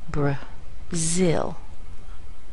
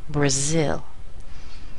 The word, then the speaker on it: Brazil: For example, the BRA here is actually pronounced as a schwa, bruh, bruh, bruh, kind of small, and I'll get a really big sound up here with a glide to it, Brazil, Brazil.